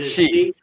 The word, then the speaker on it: Xi: they make me question it's C right I thought it was XI jingping XI Jing yeah it's like she but I always I always